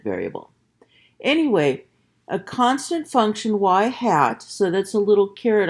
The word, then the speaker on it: y hat: not the independent variable anyway a constant function y hat so that's a little carrot on top of the Y but it's pronounced hat so y hat that is a